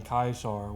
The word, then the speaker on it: Caesar: person that knows about the proper pronun pronunciation excuse me of Caesar that being kaisar which is the official you know old Latin pronunciation because they pronounced all their C's as a hard C for the most part